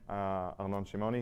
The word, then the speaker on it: Arnon Shimoni: So I'm Arnon Shimoni. You pronounced it correctly, which is respect.